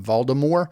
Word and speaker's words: Voldemort: There were a couple little nitpicks that I had with it, like they don't pronounce the T in Voldemort, so they call him Voldemort.